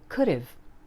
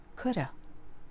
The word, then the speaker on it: could've: apostrophe V e but it's usually pronounced more like could've or even coulda yeah it's true listen